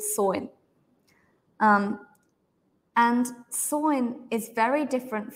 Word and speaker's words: Samhain: The Irish festival is called Samhain. It looks like it should be pronounced Samhain, but Ireland has its own language, right? So it's pronounced differently. It's called Samhain.